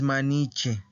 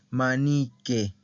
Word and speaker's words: maniche: y panini manique manique ojo con la pronunciación no es maniche es manique y es una palabra